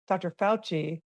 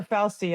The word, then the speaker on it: Fauci: I think when I was researching Dr. Fauci, or Fauci, I think as I was really supposed to be pronounced, but I just there was some kind of link there with Faust and Mm-hmm.